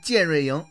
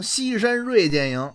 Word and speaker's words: 健锐营: 营，不过那里边的演员呢总是念成西山锐剑营。不对啊，这些好朋友得纠正过来，那绝对是念建瑞营，不念锐剑营。